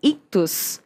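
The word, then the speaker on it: Ichthys: Quase isso, eu colocaria quase um Czinho um pouco mais forte. Mas assim, a gente não tem exatamente a pronúncia correta, né? Mas a gente chama de ictus.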